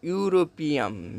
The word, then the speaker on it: European: So the starting letter is e, so it is also called vowel letter, but European means pronounces is European, so u starting letter is u, so an European.